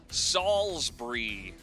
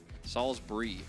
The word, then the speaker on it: Salisbury: It's pronounced Salisbury. Salisbury.